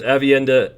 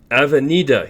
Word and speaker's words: Avenida: if you saw that there's avienda or do i say it wrong someone told me i keep saying it wrong avenida yes i do say